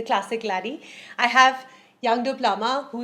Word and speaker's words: Bruichladdich: lot of fun so now that we know how to pronounce this the classic lady i have young duplama